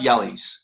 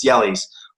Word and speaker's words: Jelle: I give all credit he's pronounced jelly's if we're being sticking to now it's actually pronounced natively it's jelly's all credit this is